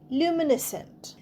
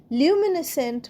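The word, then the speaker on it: luminescent: সি ই এন টি লিউমিনেসেন্ট লিউমিনেসেন্ট মানে লিউমিনেসেন্টে সি কিন্তু উচ্চারণ হচ্ছে না এস এনটির মতই লাস্টটা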